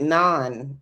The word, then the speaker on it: naan: It's not really naan. It's something like You were that. saying it right. Non. That's how you say it. Non. It's not non, but it's something like that.